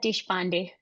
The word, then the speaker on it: Deshpande: How do you say that? You're muted. Deshpande? It's Deshpande.